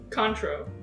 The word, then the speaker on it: Cointreau: Cointreau.